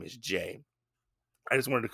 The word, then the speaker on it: Jei: pronounces it J but the way it's spelled makes you think it's a little different but when you put